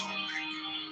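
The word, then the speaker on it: Samekh: Samek pronounced Somek.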